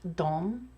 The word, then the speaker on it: de: but it is pronounced dom even when it's spelled d e um it's one of those very rare words in swedish that is not pronounced the way that it's spelled and the dom spelling